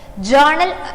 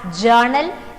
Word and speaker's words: journal: of its happening so journal it should be read as journal don't read it as journal r is silent there and other names also